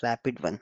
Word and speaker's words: RPT-1: So this RP is nothing but relational pre-trained uh transformer which SAP pronounces it as a rapid one.